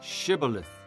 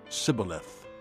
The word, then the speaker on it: Shibboleth: replied no they said all rights say Shibboleth if he said Cybil ahthe because he could not pronounce the word correctly they seized him and